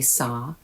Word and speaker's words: saw: They don't say saw with a soft o American accent.